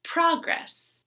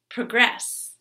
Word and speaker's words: progress: The next word, noun, progress. Verb, progress. Rebel, rebel.